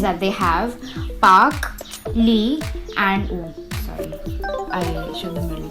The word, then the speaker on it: Lee: So if you'd watched enough K-dramas, you'd be able to tell that it'd be Lee, or rather E, how it's pronounced in South Korea.